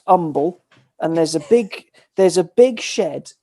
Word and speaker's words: Humble: It's spelt humble, but it's pronounced umble.